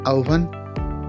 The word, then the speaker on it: আহবান: তোমরা কি জানো আহবান শব্দটির প্রমিত উচ্চারণ আহবান এবং আমরা লেখার সময়